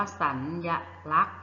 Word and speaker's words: สัญลักษณ์: เสียง พยัญชนะ นะ คะ เช่น มี สัญลักษณ์ นะ คะ อ่าน ว่า สัญลักษณ์ นะ คะ เรา ก็ จะ ไม่ ออก เสียง พยัญชนะ ตัว สอ รือ สี ใช่ ไหม คะ ท่าน